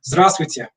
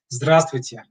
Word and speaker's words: Здравствуйте: They make this very important word a very difficult one to pronounce. So I know a lot of students of Russian really struggle with this, with the hello. Здравствуйте. Здравствуйте.